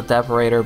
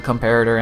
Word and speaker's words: comparator: My mistake for always pronouncing this as a deparator, but it is a comparator and the repeater.